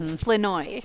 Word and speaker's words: Flournoy: It's Fenoi. Fenoi. Yeah. Again, as I say, looks just like it's spelled.